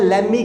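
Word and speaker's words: lemme: लेट मी का हम लोग यूज़ करते हैं लेमी के रूप में, शॉर्ट में बोलते हैं लेमी, सॉन्ग है लेमी, वो उसी तरीके से।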